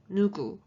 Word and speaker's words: 누구: The second word is who, and it's pronounced 누구, 누구, 누구.